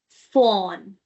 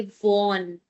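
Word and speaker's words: von: Now, this is going to be Can you tell me how do you pronounce that? Yeah? Absolutely Fohn. Fohn. F. Please do not say "vohn".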